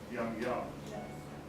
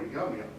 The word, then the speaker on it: Yum-Yum: gilbert puts his expansion they clearly want the name to be pronounced young young nonetheless if you see it on stage today almost all americans and indeed almost all the english will call her yum yum which is particularly